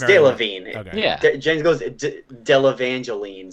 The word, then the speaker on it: Delevingne: It's Delevingne. I don't. Did I pronounce it Jen's wrong? over it. No, it's Delevingne.